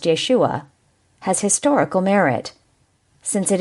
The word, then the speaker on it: Yeshua: The same critical analysis applies to the myth of Jesus, the assertion that there existed a religious teacher named Jesus, more correctly pronounced Yeshua, has historical merit, since